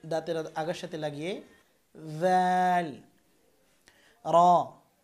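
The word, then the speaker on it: ر: র। র উচ্চারণ করবেন জিহ্বার আগা ও তারপরে পুরো তালুর সাথে লাগাতে হবে, অর্থাৎ এই যে দাঁত, এই দাঁত সংলগ্ন এই তালুর সাথে। র। র একবার কম্পন হবে।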